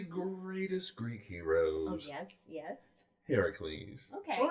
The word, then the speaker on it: Heracles: Heracles. Okay. Or Hercules. Hercules. Heracles is the Greek version. The Greek pronunciation.